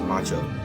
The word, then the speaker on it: Macho: I think I was saying the name wrong. His name is Macho.